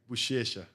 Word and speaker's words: Buchecha: Buchecha.